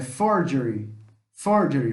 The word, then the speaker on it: Ford: Ford não é fougére não fala forghieri é Ford Ford Forget outra coisa Ford Tá bom mor dele